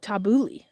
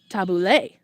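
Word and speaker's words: tabbouleh: Oh, tabuli. Gotcha. I would have said tabule.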